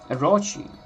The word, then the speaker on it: Orochi: Orochi, the second stress syllable. The second syllable is stressed.